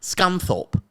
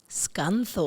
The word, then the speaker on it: Scunthorpe: called, and I hope I get this right, Scunthorpe. Scunthorpe. Have you heard of that? Scunthorpe. What a great name. Yeah. Great pronunciation of H from you, Sammy, by the way.